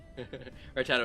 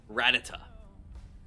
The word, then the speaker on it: Rattata: Yeah, people today call it Rattata, and I always called it Rattata because it's rat with a T, and then there's another T, A-T-A, so it's like Rat-tata.